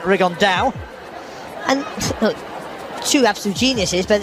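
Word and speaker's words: Rigondeaux: about fighting Rigond or as he's correctly pronounced with the Spanish accent Rigond and two absolute geniuses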